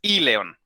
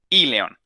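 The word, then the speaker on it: íleon: Primero con la vocal acento en la I, porque si no sería león y león. No, es I león. Le hacemos la acentuación a la vocal I. I león.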